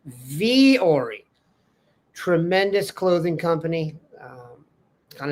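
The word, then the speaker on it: Vuori: Vu O R I, but pronounced Vori.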